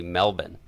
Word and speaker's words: Melbourne: Locals say Melbourne.